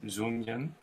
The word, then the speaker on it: Dung Nguyen: Actually, I want to emphasize the way to pronounce his name. I think he can correct us. Dung Nguyen.